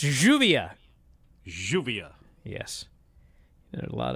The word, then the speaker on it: Lluvia: Brian, say this name, Lluvia. That's Juvia.